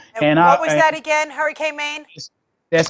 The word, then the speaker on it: HurricaneMain: You can find HurricaneMain, and I'll let you know. is spelled M-A-I-N, like rain with an M. Don't put an E on the end.